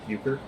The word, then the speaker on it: euchre: Go to Japanese school during the break and then introduce the students to the addictive game of euchre, pronounced euchre.